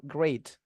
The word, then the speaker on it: great: Instead, teman-teman bisa gunakan beberapa frase yang lebih menarik, misalnya teman-teman bisa pakai I'm great, cara bacanya pakai a ya teman-teman, great.